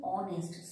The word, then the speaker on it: honest: So, honest, H is a consonant, but the H is a silent H, and H is not pronouncing, we are pronouncing honest.